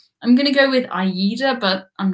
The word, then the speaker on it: AIDA: They are the German TUI, Fred Olsen, AIDA, and which other? I have to say, I've always pronounced that one AIDA, but then everyone told me it was AIDA.